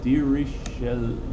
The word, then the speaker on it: Dirichlet: This is Dirichlet, or Dirichlet, some people say. I spelled it wrong. There's an extra syllable. Dirichlet, like this.